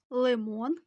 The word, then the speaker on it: лимон: вдається дві звукові схеми перша схема двоскладове слово і наголос падає на другий склад Подивіться уважно що це у нас а на нас груша лимон слива вірно це звукова схема до слова лимон Подивіться уважно на